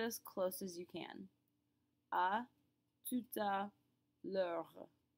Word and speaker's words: à tout à l'heure: A tout à l'heure. L'heure. Yes, even though the L has an apostrophe after it, we pronounce it like it's all one big word.